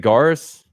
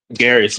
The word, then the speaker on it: Garris: Is it Garis? Garris, but close enough.